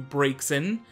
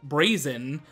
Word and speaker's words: Braixen: It's evolved into Braixen, which I, for the longest time, thought it was pronounced Brazen, because that's usually how you would pronounce it in real world.